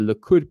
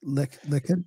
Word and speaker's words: Likud: Man, there's so much to get into about all of it, but the Likud party, which he is currently the chair of the Likud party.